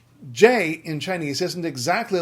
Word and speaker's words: Jin: So that is jin. It's jin with the J sounding like J. A lot of English speakers will look at J in other languages and think, well, there's no way it could be J.